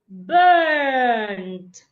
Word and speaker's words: burnt: U and R here make a long sound. Burnt, not bent.